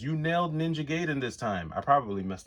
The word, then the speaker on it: Ninja Gaiden: He says, "You nailed Ninja Gaiden this time."